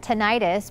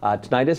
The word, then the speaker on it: tinnitus: all heard of it tinnitus but could you describe exactly what that is so tinnitus or tinnitus both pronunciations are okay are on it's a